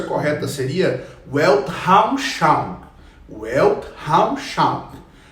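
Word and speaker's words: Weltanschauung: tá porque eu não falo alemão mas a pronúncia correta seria welt haus Charme well Hall Chapa o Elke é mundo Raul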